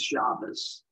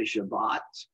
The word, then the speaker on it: Shabbat: Today is Shabbos, as Americans would pronounce it, Sabbath, as English people. In Israel, they say Shabbat.